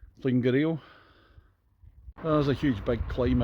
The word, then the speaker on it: Llwyngwril: I actually had to bail out about a mile or two before Llwyngwril.